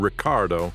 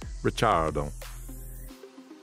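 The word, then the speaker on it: Ricciardo: this also explains why the surname Ricardo of Italian descent is pronounced by grace and her family as the Australian Ricardo instead of the Italian richardo Reyes Vasquez decastro the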